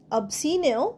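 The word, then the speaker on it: obscene: অবসিনেও সি উচ্চারণ হবে না।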